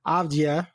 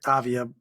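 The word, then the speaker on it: Avdija: Denny Avdia. Is that how you say it? Avdia.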